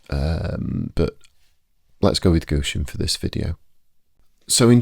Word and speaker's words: Gusion: n for this spirit is sour vessa anet gushian. Now um just on the pronunciation aspect I have uh seen a few people um say that this spirit is pronounced as gout yawn.